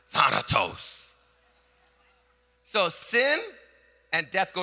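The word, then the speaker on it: θάνατος: this word death in in the Hebrew is pronounced Thanatos and it sounds really evil I'll even say more Halloween like Thanatos so sin and death go together hamburgers fries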